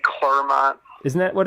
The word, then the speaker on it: Clermont: Did you say Clermont? Isn't that what it's called? I don't even know, dude. It's like Claremont, but it's, yeah. But it's spelled C-L-E-R. Yeah, It's C-L-E-R. Yeah, Clermont.